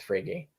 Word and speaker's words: Frege: But so I would need to like spend some time reacquainting myself with Frege. Right. I'm glad that's how you pronounce it.